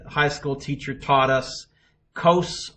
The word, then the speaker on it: cos: school teacher taught us kos rhymes with nose and so he always